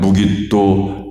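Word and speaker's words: Megiddo: 무기또 평야입니다. 영어 성경에서는 그래서 아마겟돈을 하르 메기또 무기또 평야 이렇게 번역을 합니다. 히브리어로는 무기또 평야인데 그걸 헬라어로 읽으면 발음이 아마겟돈이 됩니다.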